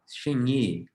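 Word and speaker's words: Hsing-i: like tai chi that's called shamie it's spelled h s i n g y i shiny it means mind also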